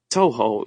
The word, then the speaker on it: Touhou: I played Okay, this I played um Is it Is it pronounced Touhou or Toho or Hoho. Toho.